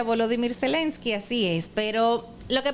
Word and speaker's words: Volodymyr Zelensky: Volodymyr Zelensky. Así se pronuncia. Como enumeró Trump. En ucraniano se pronuncia Volodymyr Zelensky, así es.